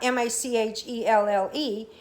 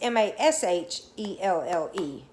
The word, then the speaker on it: Machelle: It's not Machelle, it's Mashelle.